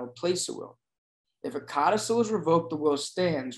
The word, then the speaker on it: codicil: We're all familiar with this word codicil, not codicil, codicil, no.